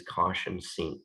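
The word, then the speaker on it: cosh: often i'm going to pronounce these caution and cinch that's sort of like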